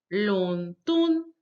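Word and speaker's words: 伦敦: And then we have, of course, London, the second and the first tone together, 伦敦.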